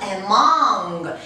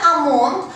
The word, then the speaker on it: among: Among. Пишется among, но читается among.